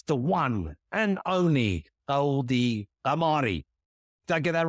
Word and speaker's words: Ghamari: It's the one and only Goldie Ghamari.